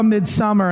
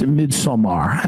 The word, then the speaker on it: Midsommar: I said, oh, I saw Midsummer, and they said, it's Midsommar. And I was like, okay.